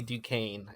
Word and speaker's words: Duquesne: And it's Callie Duquesne in that show. And it's spelled exactly the same. So yes, it's Duquesne.